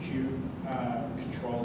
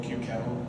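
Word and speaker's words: kubectl: just going to do q control q cattle whatever your preferred pronunciation of that is i'm sorry we're going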